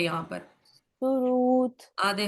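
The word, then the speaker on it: सुहृत्: रू है यहां पर सुरत आधे ह के साथ ऋषि का रू हृदय का रू सुरत सुरत और लास्ट का त आधा है इसलिए उसका आधा उच्चारण कर दिया सुघोष सुखद सुरत सुघोष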